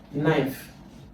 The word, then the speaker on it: knife: Knife. Why? K in knife is silent. The first letter is silent.